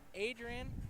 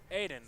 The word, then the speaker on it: Aiden: And to his outside, the 78, new to this field, Adrian Frank. Aiden. Aiden, there is no R.